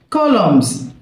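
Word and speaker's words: columns: اعمده كولومز كولومز الان سايلنت كولومز.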